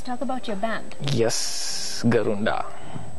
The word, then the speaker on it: GarundA: Yes, GarundA. GarundA. Yeah, that's how you pronounce it.